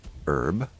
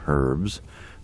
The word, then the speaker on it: herb: in here and and we have a herb and though some of you call them herbs but yeah to me the H is silent okay so mer companies